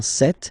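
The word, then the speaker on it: cette: or then set feminine set so you can notice that phonetically these two are pronounced the same way okay set here and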